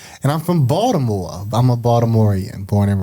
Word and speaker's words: Baltimore: it right so people don't know you from baltimore if you don't say it right and so